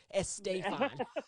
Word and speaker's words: Estefan: Yeah, Gloria Now, Estefan was on the soundtrack. You know, Gloria Estefan. Estefan. That's how you got to say her name.